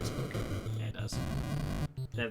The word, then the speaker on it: Spokane: It's actually pronounced Spokane, everybody, not Spokane.